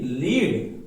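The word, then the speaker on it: lead: एल इ ए डी लीड और एल इ ए डी लेड लेड का मतलब हो गया शीशा और लीड का मतलब हो गया नेतृत्व हुआ सेम उसी तरह यहां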